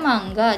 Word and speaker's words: manga: ya Eh sama aja manga apa enggak sih sebetulnya kalau pengucapan di Jepang itu sebenarnya mangga cuma n sama g Itu kedengarannya lebur jadinya ya kedengeran manga Angel Iya gitu Pepaya